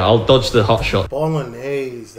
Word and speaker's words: Bolognese: Bolognese, that's how you pronounce it. I said bologna nays when I tried to put, I don't know, anyway.